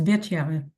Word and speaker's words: Bitya: So it's Bitya. Right. So usually people say Batya, but in the Chronicles it says Bitya.